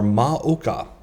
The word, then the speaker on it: Moka: uh even though it's Mocha City it is uh the Chinese characters are maoka so anyway pronounced mocha but uh mocha is a not the coffee flavor but anyway going into